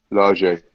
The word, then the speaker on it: Lage: Yeah, Jimenez will get, once he gets going again, they'll be alright, I think, under Lager. Or Large, or whatever his name is pronounced. No. Large. Large, is it?